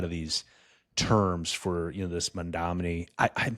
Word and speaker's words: Mamdani: that a lot of these terms for this Mamdani, I'm pronouncing his name incorrectly. I'm almost certain, but I'm not. So like, hi, mom. Don, Don, E, Mamdani. Mamdani.